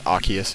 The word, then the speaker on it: Arceus: yes the connector that the correct pronunciation of that is Arceus not Arceus even though if you catch me a normal conversation I will probably say Arceus it is Arceus kind of like I